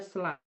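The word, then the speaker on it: slough: Tulisannya sloke, tapi kita bacanya slav.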